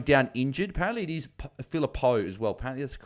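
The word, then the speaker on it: Phillipou: with philipo going down injured apparently it is philipo as well apparently that's the correct pronunciation so shout out to as well from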